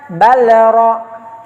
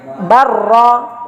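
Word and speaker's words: بل رفعه: Jadi jangan dibaca balra, bukan balra tapi barra.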